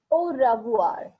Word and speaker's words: au revoir: So goodbye is au revoir. Au revoir is goodbye. Yes. In Hindi, as we say ravivar, try to pronounce it as ravuar.